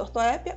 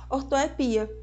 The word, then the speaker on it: ortoépia: vermífugo fique sabendo que algumas palavras permitem duas pronúncias o exemplo disso é a própria ortoépia que ela pode chamada ortoépia ou ortoepia acróbata ou agromata hieróglifo ou hieroglifo Boêmio ou